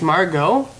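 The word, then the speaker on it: Margot: Hardy and marget Marg it's Margo Margo with a t yeah the tea is silent oh that's why okay that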